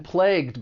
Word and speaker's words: plague: But that final gue, it's going to be pronounced with an aspirated g sound, plague.